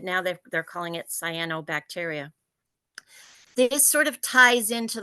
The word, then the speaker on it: cyanobacteria: first I want to tell you how to pronounce it so it's SII as in SII cyano bacteria it's not cryo it's not Soo it's cyanobacteria